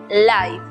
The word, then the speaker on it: life: tiempo es saber que la E al final de las palabras es muda, como ocurre en la palabra vida, que se pronuncia life, o en la palabra denso, que se pronuncia dense.